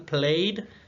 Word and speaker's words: played: Tenemos también, por ejemplo, el verbo play, played, que ese se pronuncia como si tuviera nada más la D al final, played, ¿sí?